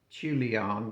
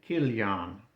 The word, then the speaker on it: Chilion: And the name of his two sons were well I always said this was Malan and Chilion but it's uh it's actually pronounced Mahalan and Kilion they tell me.